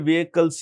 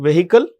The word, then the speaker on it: vehicle: These drones basically are some of the most advanced, unmanned aerial vehicles in the world. When you write this is a spelling, vehicle, remember, ladies and gentlemen, the H is silent.